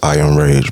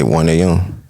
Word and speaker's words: 1AMRAGE: Like, it's 1AMRAGE. It's just I Am Rage, bro. Mm-hmm. You feel me? Some niggas just say 1AM. That's cool too.